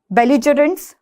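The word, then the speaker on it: belligerents: तो बेलिकोस, बिलिकोस, बेलिजरेंट्स, बिलिजरेंट्स, ठीक है, कोई भी प्रोनाउंसिएशन यूज हो सकती है।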